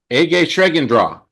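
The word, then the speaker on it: egészségedre: So in Hungarian it's a shreendra is how we're going to say cheers and in German it's prost.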